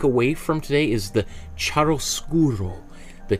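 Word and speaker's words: chiaroscuro: want to take away from today is the charoskuro the charoskuro right charoskuro is the is an italian word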